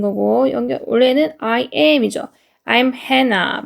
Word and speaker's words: Hannah: I'm Hannah. 발음 기호가 Hannah이기 때문에 Hannah라고 읽어드릴게요.